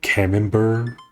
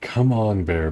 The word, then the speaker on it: Camembert: deep things in it's French so I don't pronounce the tea you call it Camembert hennenberg Camembert sounds like nonsense of course that's